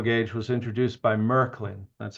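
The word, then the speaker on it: Märklin: So I'll be very brief here, but um standard O gauge was introduced by Merkelin, that's how you pronounce it.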